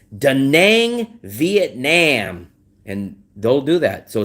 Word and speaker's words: Vietnam: So I understand Vietnam is spelled N-A-M, Nam, but it's not pronounced Nam. It's pronounced Nom, N-O-M.